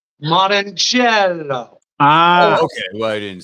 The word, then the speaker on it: Morrongiello: Morrongiello. Ah, Okay. Well, I didn't say it like No, that. it's Morrongiello.